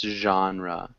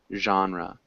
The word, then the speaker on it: genre: one small thing uh we pronounce genre genre genre yeah it's like a j sound a genre genre perfect